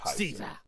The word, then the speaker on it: Caesar: to have ever lived his name was G Julius Cesar and that's how you pronounce it but I'll call him gas Julius Caesar anyway saves me the